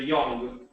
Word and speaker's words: young: they're they're very similar British is a little bit more like like an O but ours is more like a u like uh uh so the right way to say is a young young exactly okay next one